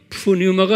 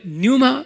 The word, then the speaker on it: pneuma: pneuma, pneuma, 푸뉴마가 아니라 뉴마 발음은요.